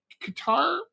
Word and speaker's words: Qatar: So Qatar, or Qatar, depending on how you choose to pronounce it, has been hosting Hamas's leadership for many, many years.